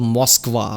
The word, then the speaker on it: Moscow: Moscow. Moscow. See, Americans say Moscow. We say Moscow. Well, you'd say cow. C-O-W, cow.